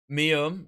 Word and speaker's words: Mium: Mium? Yes, that is how you pronounce their name. I was like, I don't know how to pronounce your name, so I'm going to call you Mai.